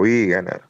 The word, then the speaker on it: Viegener: Están Guillermo, eh, a decirme si pronuncio bien o me me ayudas con la pronunciación de tu apellido, Guillermo, ¿cómo se pronuncia? Guillermo Biger.